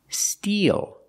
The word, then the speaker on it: steel: can take their picture now let's look at these two words these two words are pronounced exactly the same steel using the long e like green beans d eel steel when